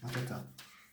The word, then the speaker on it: Mateta: I'm not very good with names, so I have to check to pronounce them well. Mateta. I was saying it right. Mateta.